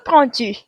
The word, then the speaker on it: prends: So even though they're spelled slightly differently, je and tu both have S's. They're all pronounced the same way. We don't hear that D at the end. We're going to end with a nasal sound.